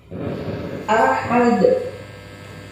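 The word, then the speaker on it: أحد: Ahad, letaknya ada di akhir kalimat. Qul huwallahu ahad. Dalnya ada di akhir kalimat atau diwaqafkan. Maka cara membacanya jelas atau tebal.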